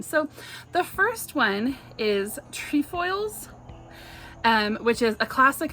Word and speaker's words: Trefoils: to pronounce it um there seems to be some debate out there whether it is tree foils or trefoils but a video that the Girl Scout like people made they are pronouncing it tree foils uh I will actually